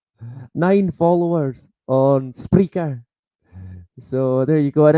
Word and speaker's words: Spreaker: Yeah, Spreaker. It's got an R. It might be me that pronounces it wrong. It sounds like speaker, but it's Spreaker.